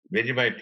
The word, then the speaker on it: Vegemite: of YouTube videos about, and I might be pronouncing it wrong. It's called Vegemite. Vegemite, yes.